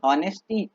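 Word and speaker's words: honesty: होती है मनी नहीं ऑनेस्टी हां अब देखो बच्चों ये लिखा था ऑनेस्टी है लेकिन एक्स साइलेंट होता है है ना बच्चों ऑनेस्टी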